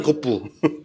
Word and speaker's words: 고프: 스봉, 고프. 그렇죠, 컵. 예, 컵에 일본식 발음 고프.